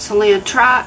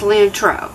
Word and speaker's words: cilantro: yesterday and said mom it's not celia trot it's cilantro got it i even